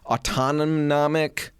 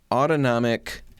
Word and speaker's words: autonomic: Autonomnomic? I'm going to Google it in a minute. Autonomic pronunciation.